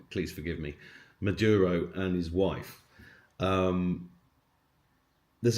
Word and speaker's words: Maduro: talks about the helicopter going in and getting Madura M. I'm always saying his name wrong, please forgive me. Maduro and his wife.